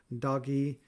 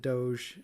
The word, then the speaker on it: DOGE: false information from the Department of Government Efficiency doggy. Uh, and the G has a gus sound, so it should be doggy. And I refuse to pronounce it Doge.